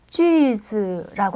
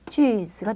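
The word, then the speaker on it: 句子: 자, 문장 성분을 볼 때 이 문장이라는 말을 중국어로는 쥐즈라고 합니다. 그래서 문장 성분을 중국어로 쥐즈 정펀이라고 이렇게 얘기를 합니다. 발음이 이게 쥐즈가 되겠습니다.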